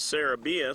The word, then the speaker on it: Jarod serabian: number six Jarod serabian they want to pronounce it Sarah BIA so we'll go with that ground ball down to